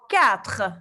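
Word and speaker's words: quatre: 4. Le R je prononce mais le E non.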